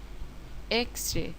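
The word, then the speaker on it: X-ray: Hour কাজেই হবে an hour এক্সরে শব্দ কি শব্দটি কনসোনেন্ট বর্ণ দিয়ে শুরু হলেও উচ্চারণ হচ্ছে ভাওয়েলের মত এক্সরে কাজেই হবে এান এক্সরে।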